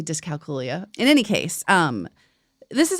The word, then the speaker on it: dyscalculia: Here's the one that people have trouble pronouncing. Dyscalculia or dyscalculia. I know. I think I say dyscalculia.